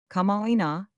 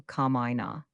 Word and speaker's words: kama'aina: How should it be pronounced, since you know so much? Kama'aina, I struggled with careful notes and tongue. But when Miss Frances says it quickly, it seems to run into Kama'aina.